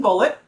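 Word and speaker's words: Bulleit: Now, I'm using Bullet, which I often use. How do you pronounce it? Like the ammunition, son.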